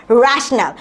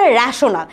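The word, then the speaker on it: rational: অমূলদ সংখ্যা ঠিক আছে উচ্চারণটা কিরকম হবে র‍্যাশনাল ডোন্ট সে রেশনাল মানে আই নো তুমি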